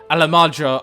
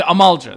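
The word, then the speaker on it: Amalj'aa: They have no notion of how dangerous the Alamadra are. The Amalja, that's how you say it, yeah.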